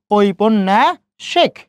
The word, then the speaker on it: ঔপন্যাসিক: খেয়াল করেন, শব্দের মাঝে নর সাথে জ ফলা যুক্ত হয়েছে, ওই জন্য নর উচ্চারণ কয়বার করছি আমরা, 2 বার করলাম, তাই না?